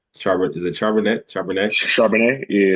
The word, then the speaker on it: Charbonnet: For dog of the week, I went with I can never pronounce his name right. Zach Charbonnet. Is it Charbonnet? Charbonnet? Charbonnet, yeah, Charbonnet from crazy.